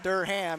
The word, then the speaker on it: Durham: Durham and he said Mark's turned his last name into a two-syllable word Derham and anybody that knows